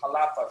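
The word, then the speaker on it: Xalapa: The actual capital of Veracruz is Jalapa, spelled with an X.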